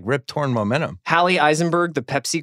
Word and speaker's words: Rip Torn: Gina Gershon Stephen tobelowski rip thorn torn torn sorry we're torn my bad I mispronounced that Rip Torn kind of wasted in